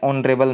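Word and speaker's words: honourable: ही इज़ नॉट एन ऑनरेबल मैन। एच है लेकिन spelling आवाज़ क्या रही है, ओ की।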